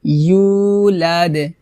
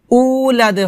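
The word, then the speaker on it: يولد: ইউ, ইউ এভাবে, ওয়ালাম ইউলাদ, লাদ, ওয়ালাম উলাদ হবে না, হবে ইউ, ইউ, জিহ্বার মধ্যখান উপরে তালুর সঙ্গে লাগিয়ে উচ্চারণ করতে হবে, ওয়ালাম ইউ, ইউ এভাবে।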